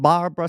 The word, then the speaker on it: Barbra: Baby, this is a miniseries on the films of Barbra Streisand. I always say it like that for some reason because I'm trying to make sure I don't say Barbara.